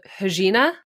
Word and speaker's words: Regina: Like, that is not a new flavor, but the Regina, did I say it right?